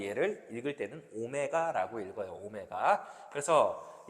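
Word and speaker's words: ω: W처럼 생긴 녀석을 배우겠지만 뭐 얘를 읽을 때는 오메가라고 읽어요.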